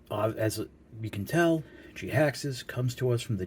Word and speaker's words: Jhiaxus: and it is none other than voyager class g haxes and according to tf wiki that's how it's pronounced because the name was created by simon